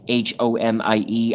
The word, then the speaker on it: homie: But I don't pronounce it like homie, like H-O-M-I-E. I pronounce it like H-O-A-M-I-E. Like loam, like loam for the garden. Like, what's up, homie? It's a much more drawn-out vowel sound.